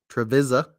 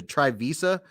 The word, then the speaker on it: Trevisa: The first one I made on this company, I called it the Trivisa, but I think it's Trevisa, because I even went on Google and said, how do I pronounce this name? Trevisa. You push the button.